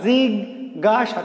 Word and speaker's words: জিজ্ঞাসা: জিজ্ঞাসা, জিগ গাসা, তিন অক্ষরের শব্দ, জিগ গা সা।